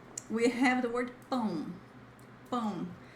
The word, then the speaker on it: pão: Guys, it's not pau. Pau. Not pau. Don't say, oh, no. It's not a good idea for you to say that. People will mock you forever if you say pau. So say pão.